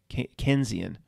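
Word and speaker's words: Keynesian: the same name but but john maynard keys kenzian is the way it's pronounced very similar for some reason what's the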